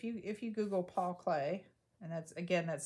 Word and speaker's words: Klee: google it if you if you google paul clay and that's again that's spelled k-l-e-e if you google that you should